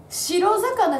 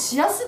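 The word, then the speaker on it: 白魚: ね、あ、これさ、白魚じゃなくて、これシラスって読むんだよ。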